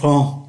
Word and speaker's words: prends: Présent, je prends. Tu prends, il prend, nous prenons, vous prenez, ils prennent. Như vậy chúng ta thấy ba ngôi số ít phát âm hoàn toàn giống nhau nhưng mà viết khác nhau.